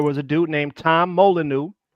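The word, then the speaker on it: Molineux: There was a dude named There was a dude named Tom Molyu. It's spelled with the French way.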